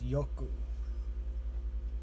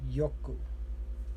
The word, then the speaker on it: yoku: The word for well is yoku. Yoku. So ku, yo, yoku.